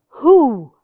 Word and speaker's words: who: thumb no thumb some who who which letter is silent perfect it's the W who who is my